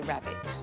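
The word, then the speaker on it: rarebit: Okay, you want to know about Welsh rabbit, which is normally spelt rabbit, but we say rabbit.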